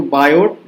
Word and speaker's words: Biot: इसको बायोट लिखा हुआ है लेकिन इसको टी जो है ना वो साइलेंट रहता है, तो सिर्फ बायो पढ़ा जाता है।